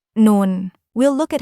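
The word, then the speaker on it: نون: Today, we're moving on to the next letter, non. We'll look at how it sounds, how to pronounce it correctly, and go over a few easy examples to help you remember it.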